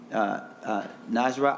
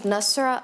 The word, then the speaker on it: Nasra: We will now go to Najra Ali. Yes. And I hope I'm pronouncing that correctly.